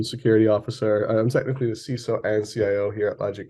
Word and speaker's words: CISO: it yeah yeah and CSO that's how you say it you don't say ciso it's CSO is that anything so